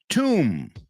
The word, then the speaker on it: tomb: Tomb, tumba. Tomb, right? These are just some common words. that have that silent B in English.